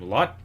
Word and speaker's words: Lotte: Lotte? Lot? I think it's just Lot. Yeah. I'm just gonna say Lot.